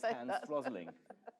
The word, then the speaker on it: Hans Rosling: of Stats, which was presented by the late Hans Rosling.